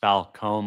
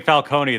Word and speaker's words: Falcone: Falcone. Come on, Matt. I thought you were Italian. It's pronounced Falcone, like an ice cream cone. That's my favorite emoji. Apologies. I was thinking Falcone, the underground mob boss